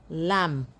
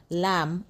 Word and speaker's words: lamb: You do not pronounce the B. The B becomes silent. So, you have climb, bomb, thumb, dumb, comb, lamb, numb, and crumb.